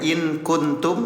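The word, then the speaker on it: إن كنتم: Samarkan bunyi nun sukunnya. Ya, asalnya in kuntum, jadi in kuntum. Tahan 2 harokat.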